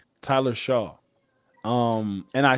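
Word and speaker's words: Shough: Tyler Shaw. Tyler Shaw.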